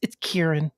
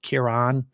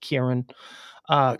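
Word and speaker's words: Ciarán: And by the way, it's Kieran. It's Kieran Hins. Okay, just so you know, I know it's pronounced or it's spelt with a C and an I and an A.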